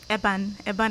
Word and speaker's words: ABAN: She's a programs manager for an NGO, ABAN. Is that how to pronounce it? Yes, ABAN against neglect.